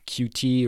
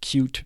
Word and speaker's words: Qt: So the PyQt library is a third-party library that provides Python bindings for the Qt or Qt framework.